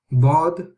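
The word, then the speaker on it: ض: So dad is when we have the tongue, the back of the tongue touching the upper part of the teeth and gums where they are joining.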